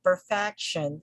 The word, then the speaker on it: perfection: simplicity simplicity and then this word perfection perfection perfection ends with this with the suffix sean so since again the the syllable preceded by the subjection is fact so the stress falls here we say perfection perfection